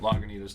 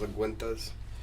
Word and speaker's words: Lagunitas: So there are two different stouts that Lagunitas does. I've been saying it wrong this whole time. I thought it was Laguintas.